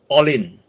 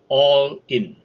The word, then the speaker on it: Ollin: so today's word is all in okay it's spelled o l l i n pronounce all in all in this is an aspect